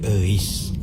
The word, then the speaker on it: Euis: Eis, itu tuh nama Sunda bro, dibacanya Eis.